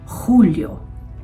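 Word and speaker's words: julio: At dahil J ang first letter ng mga buwan na ito, ang pagbigas nito ay parang malalim na H. Hunoag kalilimutan hagon junyo. Hulyo ang August Agosto din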